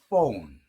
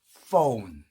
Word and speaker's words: phone: phone. 자, 여러분들 이때 P로 시작했다고 해서 폰이 아닙니다. 철자 P로 시작한 단어지만 발음은 F 발음이에요. 포가 아니고 아랫입술 살짝 문채 phone 조심해야 됩니다. 예. 폰이 아니고 phone 꼭 알아두시기 바랍니다.